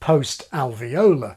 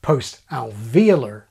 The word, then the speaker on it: post-alveolar: What these shapes have in common is their location near the region of the palate we call post-alveolar. Americans generally pronounce it post-alveolar.